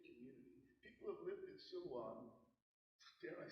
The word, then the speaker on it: Silwan: Silwan is the Arabic pronunciation of Siloam. So this is a significant biblical place. And this has been a significant community. People have lived in Silwan, dare I say, since the time of Jesus.